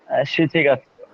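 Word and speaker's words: 七月: শিচিগাৎসু।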